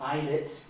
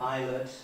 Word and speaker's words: eyelet: So until ' 89 it was showing pronunciations like Ilet where I would have eyelet and even things like